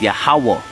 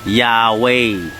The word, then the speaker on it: Yahawah: not left to right the last a on the ha is silent so it's yahwah not Yahweh so this is Genesis